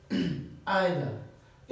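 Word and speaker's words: either: जो पहला वर्ड है तो वो है आइदर। इसको आइदर भी बोलते हैं और इसको ज़्यादातर लोग इसको ईदर भी प्रोनाउंस करते हैं, ईदर, जो कि दोनों ठीक है।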